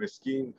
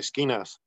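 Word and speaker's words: Esquine: prospectos or prospects, and Eskeen Feedmates are non-member soldiers that have not yet risen to the level of prospect. It's like Skeenas. Okay. Oh, yeah, I know that. It's spelled weird.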